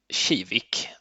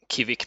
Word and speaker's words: Kivik: I'm going to use the Swedish pronunciation shivik or English would be Kik maybe and it's known